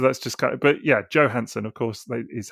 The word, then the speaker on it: Johansson: it's yeah so that's just kind but yeah Joe Hanson of course is how she pronounces it so fair enough she knows how